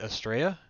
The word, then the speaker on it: Estrella: of say it, but correct me if I'm mispronouncing the game. Zakumba, is it Estrella? Yep. I was Yes. gonna say you hit that just right.